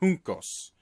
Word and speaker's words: Juncos: I believe it's pronounced Juncos. Juncos or Juncos, whatever.